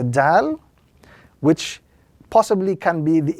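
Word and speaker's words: دال: This letter is pronounced when the tip of the tongue touches the base of the upper two front teeth.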